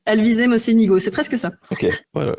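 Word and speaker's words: Alvise Mocenigo: toujours des remarques parce que je massacre les prononciations et là vraiment donc c'est Alvise Mochenigo. Alvis Mosenigo, c'est presque ça.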